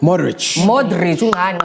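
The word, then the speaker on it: Modrić: Modric Was named as the best player of the World Cup when he received the Golden Ball Award.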